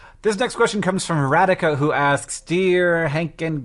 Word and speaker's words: Radika: Like radical without the L, Radika."